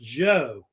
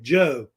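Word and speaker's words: Zhou: think it's actually pronounced Jo like a j sound not not a cha like a like Joe so they actually say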